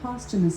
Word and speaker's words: posthumous: The word posthumous is pronounced as posthumous, posthumous, or posthumous.